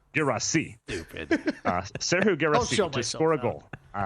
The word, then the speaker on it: Guirassy: I mean, to be honest, soccer pronunciations get fuzzy, but most commonly Guirassy. He was born in France. He's from Guinea, where French is the language. So Guirassy.